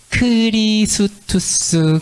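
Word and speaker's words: Χριστός: 요 X가 그리스어에서는 크 발음이 나요. 크 발음이 나고, 요거는 르 발음이 나고요. 그 다음에 똑같이 영어의 I, 그 다음에 요게 영어의 시그마 S, 그 다음에 TUS 해가지고 크리스투스, 그리스도라는 단어예요.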